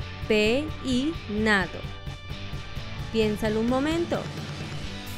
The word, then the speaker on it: peinado: En tres sílabas, peinado, o en cuatro sílabas, peinado. Piénsalo un momento. La respuesta correcta es peinado, en tres sílabas.